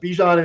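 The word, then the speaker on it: Bijan: So uh Bejan is uh you know, does he get the 30 plus points?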